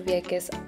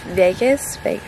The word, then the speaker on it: Vieques: out, so the only tickets available were to Vieques Island.